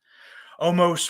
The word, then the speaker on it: Omos: It's not Ono. It's Omis. Omos, whatever the fuck, because I still don't know how to say the stupid fucking name.